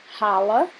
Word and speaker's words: challah: do lado de dentro o nome dele é Hala é assim que se pronuncia mas se escreve como chala é um pão judaico